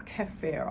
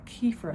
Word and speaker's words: kefir: from out of a bag, but this is kefir, or kefir as some people pronounce it, and this is fermented milk.